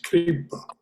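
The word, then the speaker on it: Kṛpā: I always thought that if there's an accent mark over the A, a straight line over the A, then that syllable gets emphasis. But I could be wrong. No, it's Kripa.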